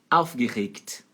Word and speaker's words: aufgeregt: Aufgeregt. Aufgeregt. E a letra G ali, ó, antes do T tem som de K. Aufgeregt. E a sílaba tônica é a primeira, em cima do au.